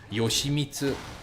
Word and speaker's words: Yoshi: okay so for example the way you say Yoshi's Yoshi's name in Japanese is Yosi so you say yo me and in order flat and you pronounce each syllable for an equal amount of time but when you say